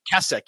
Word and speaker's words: Keswick: Wesleyan tradition, from Keswick, which I think in Europe they pronounce it completely different, by the way, not Keswick. Did you know that? How do you pronounce it? I always say Keswick, but I just know that when I'm in England, they're like, "Oh, it's actually Keswick."